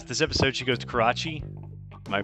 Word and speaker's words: Karachi: um so yeah this episode she goes to Karachi am I pronouncing that correctly yeah Karachi Karachi to visit her grandmother and I got